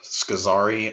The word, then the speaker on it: Scozzari: you can find me my name is scazari on instagram um that's two z's s-c-o-z-z-a-r-i and then is spelled not like the dish soap so